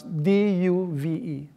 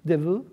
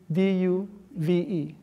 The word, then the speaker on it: Duve: How do you pronounce D-U-V-E? Devu? D-U-V-E. D. Devu. D-U? Devu. Okay, however you pronounce his name. Okay. Christian Devu? No, Duve. Duve. Okay, Christian Duve.